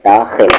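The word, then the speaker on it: داخل: बाद सरहद में दाखिल दाखिल भी सही से बोले दाखिल ख होगा दाखिल हुआ तो उसे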